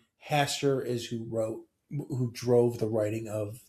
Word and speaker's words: Hastur: H is for Hasture. Oh, no. You said it. How do you say that? Yes. Hastur. Uh by saying his name you draw the attention of Hastur. You never say Hast.